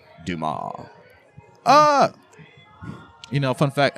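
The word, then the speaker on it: Dumas: damn it's one of my favorite books it's pronounced dumal Oh I thought you meant um Monty krisco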